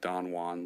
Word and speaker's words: Don Juan: on the sort of Don Juan Legend said pronounced donjuan because of the way English meter Works never mind he's quite